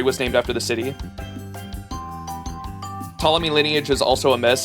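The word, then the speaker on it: Ptolemy: So, it is just like the the P is silent. Okay. Tommy.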